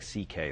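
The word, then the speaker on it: Székely: My Hungarian grandfather's name was C.K., but it's spelled, it looks like, it's a mess. It's S-Z-E-K-E-L-Y, and it sounds like C.K., though.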